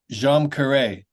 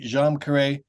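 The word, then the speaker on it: Djam Karet: it I pronounce it jeam K but but everyone in the band pronounces it differently so there's you know and it's an Indonesian phrase so don't worry about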